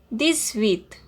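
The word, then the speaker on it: dix-huit: set 18 this width as with is starting with h and x is a consonant so we will do the liaison so the pronunciation will be this width z the sound of these will be z so these width 19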